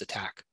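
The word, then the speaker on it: ATT&CK: they're a non-profit uh research organization and the attack here the and it's spelled kind of funny um stands for adversarial tactics techniques and common knowledge so that's where that acronym att and ck but it's pronounced attack this framework organizes and categorizes the tactics and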